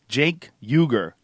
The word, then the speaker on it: Cenk Uygur: Jenkuger.